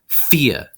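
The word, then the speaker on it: vier: an easy ound and the V always makes a sound so it's Thea Thea this one's a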